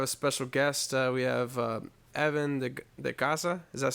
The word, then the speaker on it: Evan De Ycaza: We have Evan De Ycaza.